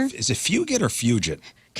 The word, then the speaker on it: Fugit: Patrick, is it Fugit the actor? Is it fugit or fugit? Cuz it's spelled like it's a kid from uh it's spelled like fug it.